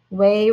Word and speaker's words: weigh: kittens ready to play weigh rhymes with play so think about how